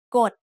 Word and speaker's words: กฎ: กฎ has a middle class consonant and a dead syllable, so it's low tone.